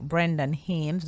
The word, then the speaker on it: Brendan Hames: Brendan Hames. I hope I'm pronouncing your name correctly.